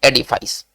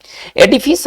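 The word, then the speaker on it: edifice: एडिफिस है ना, इसका जो शुद्ध उच्चारण है वो एडिफिस है।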